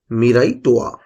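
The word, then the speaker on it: Miraitowa: ছিল ম্যাসকট ছিল মিরাইটোয়া ওদের ভাষা তাই একটু উচ্চারণ করতে কষ্ট হবে মিরাইটোয়া এই মিরাই কথাটির অর্থ হলো ফিউচার ভবিষ্যৎ টোয়া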